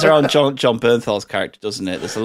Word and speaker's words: Bernthal: B is that how you say his name Bernthal Bernthal yeah his character is brilliant because the only